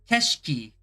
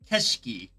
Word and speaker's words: 景色: Keshki. Okay, I don't remember ever learning that. I honestly don't remember learning that at all. When did we learn that? Keshiki.